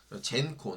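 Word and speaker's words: Xencor: 젠코, 네, 젠코라고 읽네요.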